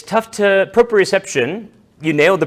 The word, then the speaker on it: proprioception: It's tough to propreception. You nailed the pronunciation.